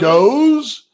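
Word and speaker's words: Gose: goes. Well, it's spelled G-O-S-E. Yeah, goes. Like goes, like rose, goes like rose.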